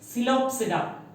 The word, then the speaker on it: Psilopsida: Psilopsida, P is silent here.